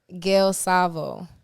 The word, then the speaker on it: Gale Savo: was one more time how you pronounce it Gil Sao oh so you foreign